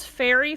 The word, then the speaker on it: Faerie: called fairy fire or is it called something else? It's called fairy fire, but fairy is spelled Faerie.